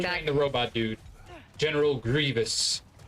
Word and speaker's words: Grievous: General Grievous. Or as some people incorrectly pronounce it, Grievous.